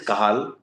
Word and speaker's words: Cajal: When I say Cajal, it is pronounced as Cajal but written as Cajal, c a j a l.